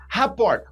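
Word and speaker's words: rapport: Raport, ó, rapor, primeiro que se escreve estranho, né? R a p o r t.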